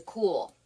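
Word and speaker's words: Kühl: across is a um it's a cool and that is spelled k-u-h-l and this is a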